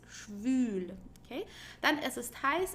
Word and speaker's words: schwül: Make sure you pronounce it with the U, okay? Schwül means humid. Schwul with the normal U means gay, okay? So es ist schwül with an U, okay? Not saying es ist schwul, it's schwül, okay?